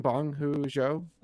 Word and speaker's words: Bong Joon-ho: Bong Joon-ho.